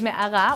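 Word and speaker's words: מערה: Israeli city so today our Hebrew word is Mecca which is how you say cave in Hebrew well I don't know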